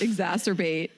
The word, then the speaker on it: exacerbate: and I was like it's definitely not a word that rhymes with masturbating and yes it's exacerbate so that was that